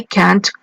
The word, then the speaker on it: can't: can't play soccer I can't work just notice the pronunciation the final T must sound ok so I have